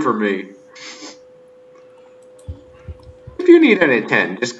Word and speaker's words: Enitan: I'll try and pronounce it. It's Enitan.